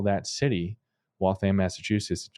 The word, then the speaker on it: Waltham: So so it's correctly pronounced Waltham Wam. Yep. That's if you're if you're from the area you know that's how you say it.